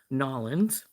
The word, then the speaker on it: New Orleans: lived down new near New Orleans don't you so you might be or to pronounce it more properly noin um hey Maryann um